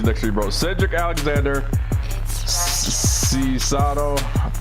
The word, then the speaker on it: Cesaro: Cedric Alexander, Cesaro. Pretty sure mispronounced Cicero. that. Cicero. Okay, Cicero.